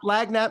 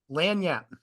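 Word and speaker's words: lagniappe: That Lagnat mentality? Lanyap. Lanyap, pronounced it wrong.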